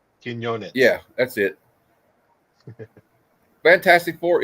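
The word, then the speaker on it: Quiñones: Joe Quinones, I guess is how you say his name. God, I'm not good at pronouncing names. Quinones.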